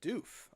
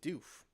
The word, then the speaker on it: Doof: Hearing the announcers say it's actually pronounced Doof. Atis Doof.